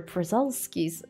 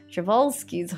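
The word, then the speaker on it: Przewalski: actually just recently made a barn for the przelski's chevalski's horse keep saying it wrong javalsky's so i was also looking into a lot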